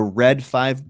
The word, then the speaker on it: Read Five: Wars action figures the red five book um and go look it up the red five book it's it's it's pronounced red five but it's you know they spell it read five um re e a